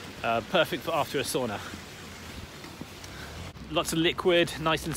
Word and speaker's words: sauna: find out more or perhaps i should say sauna i know i'm going to get lots of complaints because i usually use the kind of common english pronunciation but of course it's sauna in in finnish um and of course